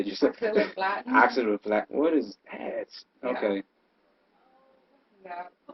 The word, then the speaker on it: Oxaliplatin: Oxaliplatin.